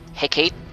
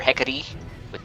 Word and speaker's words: Hecate: And you can use your Hecate or Hecate, whatever you want to pronounce it.